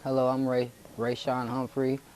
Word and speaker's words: Humphrey: just get you to say your name and spell it for me all right hello I'm Ray ran Humphrey r a y s h o n e